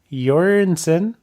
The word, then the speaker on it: Jørgensen: talking to first-year striker Matias yarns in it sound like they pronounced his name wrong but guess what guys that's how it's pronounced but Diaz you're and